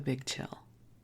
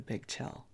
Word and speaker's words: Bigg Chill: Los Angeles called the Bigg Chill. Big is spelled with 2 G's, B-I-G-G, Chill.